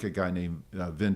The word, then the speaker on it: Vine: I like a guy named Vin Deloria, or Vine Deloria, depends on how you pronounce his name, and who was at the University of Colorado.